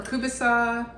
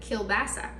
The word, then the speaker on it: kielbasa: here where we live we call that ukrainian sausage or kubasa yeah which apparently uh people other places pronounce it kielbasa so now we know